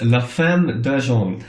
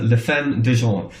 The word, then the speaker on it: La Femme d'Argent: French band, quite instrumental, and I hope I pronounce this correctly. It's La Femme d'Argent, or La Femme d'Argent, which I think is the Silver Woman.